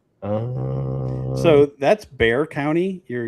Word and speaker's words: Bexar: Um So that's Bear County. You're you don't pronounce the X. Just Bear County.